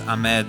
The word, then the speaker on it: Ahmed: It was A-H-M-E-D. So, you know, you can pronounce that as Ahmed or Ahmed.